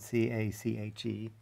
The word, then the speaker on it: cache: like a squirrel's cache of nuts it's spelled c-a-c-h-e pronounced cache and it just associates some inputs with